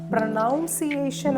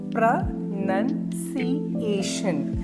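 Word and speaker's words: pronunciation: എങ്ങനെയാണ് നമ്മൾ പ്രൊനൗൺസ് ചെയ്യുക നൗൺ അല്ല പ്രൊനൗൺസിയേഷൻ അല്ല ഇസ്പ്ര നൺ സി ഷൻ അപ്പോ സ്ട്രെസ്സ് ചെയ്യേണ്ടത് ഈ സിലബിൾ ആണ് എത്ര syllable ഉണ്ട്വൺ to three four five five ആയിട്ടാണ് സ്പ്ലിറ്റ് ചെയ്തേക്കുന്നത് അതില ഇതിൽ സ്ട്രെസ്സ് ചെയ്യേണ്ടത് നിങ്ങൾ ഫോർത്ത് സിലബിൾ ആണ്.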